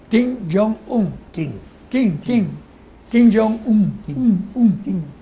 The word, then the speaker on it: Kim Jong-un: Kim Jong-un. Kim. Un, Kim. Porque lo pronuncian así, un.